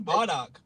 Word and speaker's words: Bardock: Brock? I thought his name was Brock. Uh, Nah, it's Bardock.